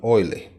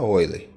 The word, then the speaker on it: Euler: respeito da relação de euler tá aqui se inscreve eu ler mas a gente pronuncia oi lê então essa relação de